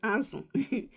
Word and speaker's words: azụ: Then azu, that's fish. I'll spell it in English. A-Z-U. That's how you spell it in English. In Igbo, A-Z-O. That's fish. Okay?